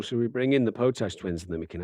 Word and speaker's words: Potash: Pronounce Potach.